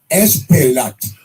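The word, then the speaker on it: Espaillat: It's I've never even heard anybody pronounce his name. He's not a very busy congressman, but Congressman Esplat, Espaiillat.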